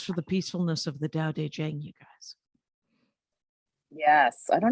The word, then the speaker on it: Tao Te Ching: And she goes for the peacefulness of the Tao Te Ching, you guys. Yes, I don't know what that is, but it sounds. It's that's what it's the T is pronounced as a D.